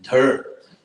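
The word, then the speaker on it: dhṛ: which is i mean technically you pronounce it dirt it's like dh and then the vowel r not the consonant part so there and this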